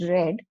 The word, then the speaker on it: read: So past tense of read is pronounced read, but the spelling will be the same. R E A D.